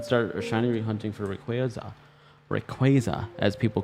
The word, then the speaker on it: Rayquaza: he said option one so the people who say Rayquaza sorry you're saying Rayquaza's name wrong it is Rayquaza not Rayquaza Rayquaza my Okay.